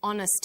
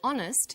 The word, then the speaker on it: honest: happy man but and honest man the H is not pronounced so honest sounds like it starts with a vowel and where the value